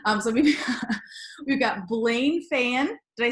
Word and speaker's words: Feyen: Yeah, anyway, its last name is Feyen, but you were doggone close. So I've been called much worse, so I'll take Feyen all day long.